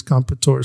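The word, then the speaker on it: Comperatore: I did go and try to see how all the anchors and everyone else was pronouncing it, and I believe it's Competore.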